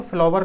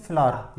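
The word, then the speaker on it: flower: ई एन टी और इसको फ्लवर नहीं बोलते इसको बोलते हैं फ्लर या फ्लर्स फ चलो इसको बनाओ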